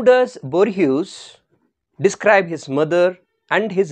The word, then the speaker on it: Borges: Now actual pronunciation is Borges, that's why I am telling like this, but further keeping in mind of the spelling, I would pronounce it as Borges, so that you will not make any spelling mistake.